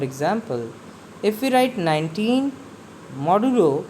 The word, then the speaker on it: modulo: Now modulus operator is used to find the modulus, that is remainder, but pronounced as modulo.